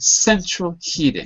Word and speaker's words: central heating: correct Central hitting good central heating central heating both on the first syllable you're absolutely right okay